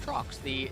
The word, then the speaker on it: Trox: Just Trox. Both the A's are silent. I found that out yesterday.